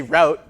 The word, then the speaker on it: route: The old root versus route debate. If you're in the root camp, well, you have a bit of Canadian raising. If you say route, then you have a little bit less Canadian raising than the rest of us.